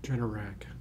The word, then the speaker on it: Generac: How do you pronounce it? Generac? Generac.